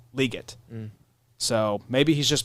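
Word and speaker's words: Legette: fan, and he's like, it's actually like Liget. So maybe he's just mispronouncing his own name. Yeah, I think that's what's happening. Possibility. Because I would just go Xavier Leggett.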